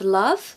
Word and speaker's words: love: ardently ardently with love we have an a sound not an O now you probably think that sounds the same but listen to the difference love a love love love so the second one is not the pronunciation the first one is what we want love ah it's what I call the umbrella U so ah if you can say umbrella you can say love admire admire we haven't